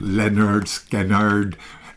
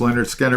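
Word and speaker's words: Lynyrd Skynyrd: And this is pronounced Leonard Skannard.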